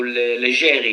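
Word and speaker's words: Leggeri: Is it Fabris Legari? Yeah, Fabris Leger or Legeri because I think his ancestors are Italian. So Legeri should be the right pronunciation.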